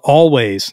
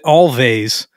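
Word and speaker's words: Alvvays: Indie pop band called Always now let me say this I had pronounced it all vase for a long time because it's spelled a-l-v-v-a-y-s I discovered them on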